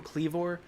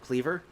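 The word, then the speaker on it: Kleavor: clever um you know i keep saying calling him cleavor it's probably pr supposed to be pronounced cleaver cut like a meat cleaver but i much prefer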